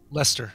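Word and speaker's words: Leicester: your red leashed how do you say that Lester Lester oh that's a strange I've never actually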